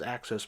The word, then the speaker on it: AXO: I act in fact I thought EXO was a EXO I always said it like that in fact you know back in the old days we didn't see people on TV saying the name pronouncing you're just reading it in a magazine so I thought you call the letters out as the initials I didn't know it was access port for quite a long